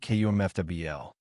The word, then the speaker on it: comfortable: Another one comfortable. People often say comfortably clearly, but we actually say kumfl.